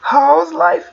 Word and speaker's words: how's: How's هاد الاس كتنطق في الكلمة هنا. أوكي how's life؟